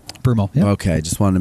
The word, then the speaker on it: Broomall: Is that how you say it, Broomall? Broomall, yeah.